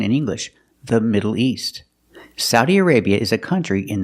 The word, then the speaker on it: Saudi Arabia: country has three pronunciations the best one or the most common one is Saudi Saudi Arabia using the sound a like cow and how sa Saudi Arabia